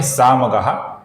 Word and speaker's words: सामगः: सर्वप्रथम नाम है त्रिसामा, फिर नाम है सामगः, जिसके विसर्ग का आगे स आने के कारण अपूर्ण स ऐसा उच्चारण हम करते हैं।